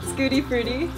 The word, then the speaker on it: Schadenfreude: This is our pet, Scooty Fruity. It's spelled Schadenfreude, but it's pronounced Scooty Fruity.